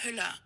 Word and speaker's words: Hüller: Sandra, oh God, now I have to look up how to pronounce her name again. She's German. German. Sandra Hüller.